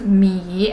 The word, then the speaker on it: 芈: And this one, thanks to the Chinese series 芈月传, I know it's pronounced 米 and it's a Chinese family name.